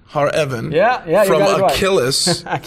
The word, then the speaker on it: Akeyless: special guest odette har evan yeah yeah from achilles like achilles is it spelled achilles like achilles